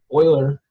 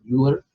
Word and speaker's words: Euler: So Euler, a famous mathematician, a lot of people say his name Euler. I don't have any problem with that, but it is pronounced Euler.